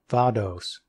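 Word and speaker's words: Vaudois: of the 6th century the name VOAD wah sometimes pronounced vados has been used by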